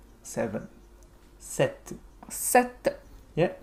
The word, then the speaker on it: sete: After seis comes sete. Seven. Sete. Sete. Yeah, a little bit like the Egyptian god Set.